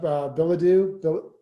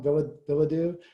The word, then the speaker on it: Bilodeau: And as Kristen said, we got Bilodeau. I always say the last name wrong. Bilodeau.